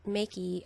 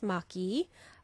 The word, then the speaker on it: Maki: It's not Maki a Wish. The Japanese pronunciation is Maki a Wish.